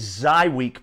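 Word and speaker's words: Żywiec: watchers without the beer now this one is zy week beer and it's spelt like this but it's pronounced like this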